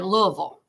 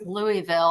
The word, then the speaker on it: Louisville: Because if you are local, you say Louisville, but my mom always told me that it was pronounced Louisville after King Louie.